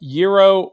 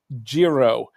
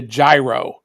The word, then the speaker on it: gyro: that it comes from it's either pronounced Euro or Jiro um the I I went to a Turkish place um last week and they pronounce it uh Giro um but my Greek friends pronounce it Euro so you know it just all depends but nobody calls it a gyro oh no Julie go